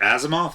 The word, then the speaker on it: Asimov: No, if but you're taking the Isaac Asimov, that's how you Yes.